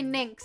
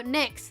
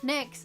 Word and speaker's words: Nyx: I just keep trying to say Nynx, because that's how I pronounce my character with like the same spelled name. So Nyx, Nyx, Nyx.